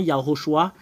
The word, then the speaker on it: Yahushua: La raison pour laquelle c'est Shu, parce qu'il y a un shin comme une bourrette renversée, comme une fourche. En fait, c'est la forme. Et il y a 3 points juste en haut. Voilà, la marque c'est SH. Et le 3 points en bas, ça donne le U.